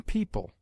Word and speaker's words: people: EO is found in yeoman, where it is sounded as o short, and in people, where it is pronounced like ee.